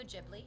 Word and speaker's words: Ghibli: And it also reminds me of one of my favorite Studio Gibli movies or Studio Ghibli, however you'd like to pronounce it. I think both ways are totally fine.